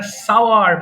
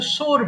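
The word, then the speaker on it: sour: আর এটা সাওয়ার মানে টক। অনেকে ভুল করে সোর বলে, এটা সোর হবে না। হ্যাঁ, সঠিক উচ্চারণ হবে সাওয়ার।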